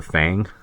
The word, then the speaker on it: Fang: largest group is the Fang people like literally like Fang like Dracula that's how it's spelled and pronounced uh they basically cover